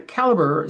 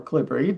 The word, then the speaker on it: calibre: I'm on caliber site or calibri based on which country you're from is going to be based on how you're going to pronounce that work uh that word.